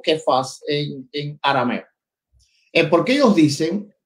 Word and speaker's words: Cefas: Le trajo Jesús y mirándole Jesús le dijo, tú eres Simón, hijo de Jonás, tú serás llamado Cefas, pronunciado Kefas, pero Juan agrega algo que traducido es Petros en griego.